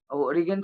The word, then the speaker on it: Origen: जब भी टाइम मिलेगा उनके बारे में पढ़ाई कीजिए ओरिगन स्पेलिंग ये है ORIGEN, ओरिगन।